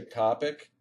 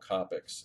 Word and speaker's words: Copic: have you pronounced them i guess they're pronounced differently in different regions i think in i say topic which i think they were saying like in australia they'd call them copics and since uh i